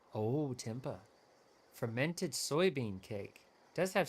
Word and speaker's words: tempeh: It's pronounced like tempeh. Oh, tempeh.